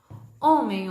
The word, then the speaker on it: homem: o som de h8h que a gente fala que ele é mudo que ele não tem som homem o oh oh H Oh que fica o MM no final fica-me homem então o h quando